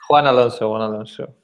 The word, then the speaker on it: Juan Alonso: Did I pronounce that right? Juan Alonso? Juan Alonso.